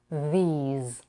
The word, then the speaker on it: these: air then we have the voice z sound these it's spelled with an S but don't let the spelling trick you these things here we have